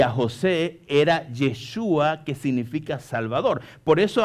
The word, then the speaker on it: Yeshua: El nombre realmente que pronuncia el ángel cuando habla con María es Yeshua, y es el nombre hebreo de Jesús.